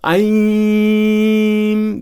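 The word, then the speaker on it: ऐं: To speak it out loud, Om, Aim, I'm speaking it out loud for the purpose of showing you how it is spoken. It's Aim.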